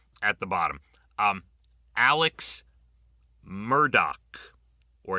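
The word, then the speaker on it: Murdaugh: Um, Alex Murdoch, or it's actually Alec Murdoch. Most people say Alex Murdo, but it's Alec Murdoch.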